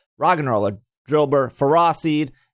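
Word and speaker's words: Ferroseed: and roller drill bird fera seed yes i'm saying it right you are all saying it wrong and clean the following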